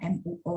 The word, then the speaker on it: 沫: Ingat, MO bacanya ada U di tengah-tengah. Pas bacanya MUO ya. Mo.